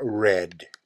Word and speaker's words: read: Tennessee put my cambio read nel tempo pasado es la misma palabra pero SE pronuncia red red run city's a